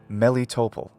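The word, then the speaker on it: Melitopol: patterns of English speech I nevertheless recommend placing the accent on the same syllable as in Ukrainian so I call these cities sevastopol mariupal mellitopel and that way they also sound like Constantinople Crimea is also home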